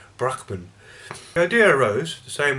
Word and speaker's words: Brahman: exists in all things, an essence called Brahman, or as I was taught in university it should be pronounced Brahman.